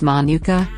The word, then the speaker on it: manuka: type of honey that hails from New Zealand pronounced manuka it's named after the manuka bush from which